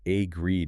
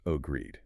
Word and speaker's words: agreed: So, it's not agreed. It's ogreed. Correct. It's almost a throwaway sound. Yeah. The real energy of the word is all in the second part. The second syllable starts with that consonant cluster. V. You need to feel that transition from the back of the throat G sound to the rolling R. And then the vowel sound stretches out. It is a long e sound.